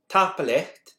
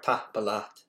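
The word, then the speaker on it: tapadh leat: Tapalecht is the Gaelic for thank you, but it changes to tapalive for polite and plural.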